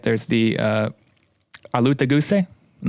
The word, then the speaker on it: Alutaguse: It's from what I've heard, it's exactly how most people pronounce it, but we say Alutaguse. Alutaguse.